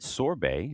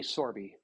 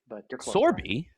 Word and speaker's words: Sorbe: Sorbet, if I'm am I pronouncing that right? Long e Sorby Sorby.